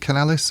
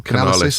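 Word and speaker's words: Canalys: Is it Canalis or Canalis? I think they pronounce Canalis, was saying that by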